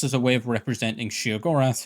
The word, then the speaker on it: Sheogorath: a way of representing Shaggorath, who at this time was also often pronounced shearath by the way.